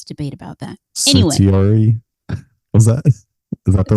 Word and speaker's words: certiorari: Certiorari? Was that? Is that the word? Certiorari is how I say it.